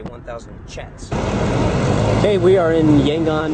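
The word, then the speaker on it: kyat: look at it 1,00 it looks like it would be pronounced cats or kats but they actually would say 1000 chats.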